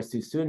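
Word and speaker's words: Suisun: people don't know where suzune valley is uh it's spelled s-u-i-s-u-n so it's not suicide it's too soon um and it is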